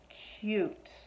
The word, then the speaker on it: cute: t there's cut but if i add that silent e on the end that silent e is gonna make this u say u instead of the short uh sound so it's going to change cut to k you cute okay so this is